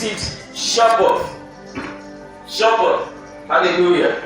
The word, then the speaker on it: Shabbat: In the Hebrew pronounces it Shabbat. Shabbat. Hallelujah. That's how the Hebrew pronounces it.